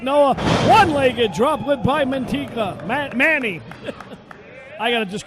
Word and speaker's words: Mantequilla: His name is Mantequilla. We'll call him Manny for short. Mantequilla. He's the Lucha hero. You can pronounce that better, maybe in Spanish.